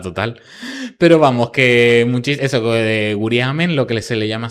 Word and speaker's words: Guriame: majorera y estás escuchando guriame, de repente tú dices, "No, guriamen será o guriamen." Que yo lo he escuchado pronunciado de las dos maneras. En los archivos, en este archivo lo ponen sin n.